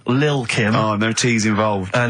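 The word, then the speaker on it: Lil' Kim: Now, Steve, I see there it's a track by Little Kim. How are you pronouncing it? I'm pronouncing that correctly. Lil Kim.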